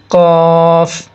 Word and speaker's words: ق: এখানে আমরা দেখতে পাচ্ছি প্রথম যে হরফটা আছে সেটা হচ্ছে কফ। দেখেন নিচে আমরা বাংলায় লিখে দিয়েছি কফ, কফ। বাংলায় যেভাবে লিখে দিয়েছি সেভাবে উচ্চারণ করার চেষ্টা করবেন, তাহলে জিনিসটা পড়তে সহজ হবে।